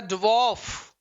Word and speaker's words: dwarf: इसका उच्चारण छात्रों होता है ड्वार्फ। Correct answer is this. बोले आ की आवाज नहीं आती है, ओ की साउंड आती है।